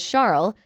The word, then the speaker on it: Charles: Charles, pronounced the French way as Charles, looked like typical Euro trash to me.